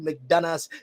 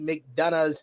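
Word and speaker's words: McDonagh: we don't do that the g h is silent he's been in the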